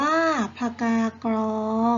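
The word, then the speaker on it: ผกากรอง: ชมพู พันธุ์ทิพย์ ม.ค อ่า ผกากอง อ่าน ว่า ผกา กรอง แอร์ มี ผัก ตบ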